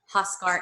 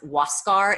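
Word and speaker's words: Huáscar: space I in CA huskar Inca great yes and I think honestly I think it's pronounced Huascar if you're saying it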